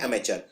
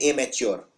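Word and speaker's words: amateur: खेलता है वो है अमेच्योर अब अमेच्योर में लोग इसको लिख देते हैं एमेच्योर कि भाई ये तो अ एमेच्योर है ये एमेच्योर नहीं है ये अमेच्योर है स्पेलिंग देखिए ध्यान से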